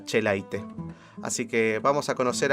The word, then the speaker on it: Echelaine: pronunciase escribía esaúl y tiene una pronunciación bastante difícil pero kaká se decía che light así que vamos a